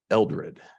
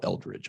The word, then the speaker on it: Eldred: And today I'll be talking about Lemuel Eldred, who I sometimes will call Eldridge. I keep getting stuck on that.